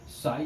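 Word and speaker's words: psi: साई क्या है हमारे पास? वेव फंक्शन ऑफ इलेक्ट्रॉन है। एम क्या है? मास ऑफ इलेक्ट्रॉन है। साई पी एस आई, P silent S आई।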